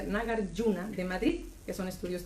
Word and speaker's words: Nagarjuna: Y desde hace 3 años Daniel es director del centro Nagarjuna, lo voy a pronunciar así, Nagarjuna, se escribe Nagarjuna con J, pero se pronuncia Nagarjuna de Madrid, que son